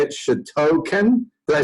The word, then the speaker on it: Shotokan: Shotokan? Did I say it right? A little close? Okay. Shotokan.